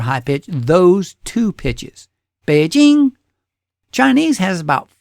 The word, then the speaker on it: Beijing: you're supposed to say Beijing. Still the same word, but you just say it with two pitches, a low pitch and a high pitch.